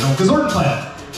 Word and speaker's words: Gozortenplat: I don't need to spell it out. It's just, it's spelled phonetically, Gozortenplat.